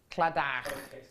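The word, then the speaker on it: Claddagh: In fact, I actually had to ask Michael, who's on cameras, the other day how to pronounce this, because it's spelt in an unusual way. Cladder.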